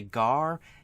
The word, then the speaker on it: GAR: are pronounced meaning that it's not spelled out as GA r it is a acronym for gar and you pronounce it now something like FBI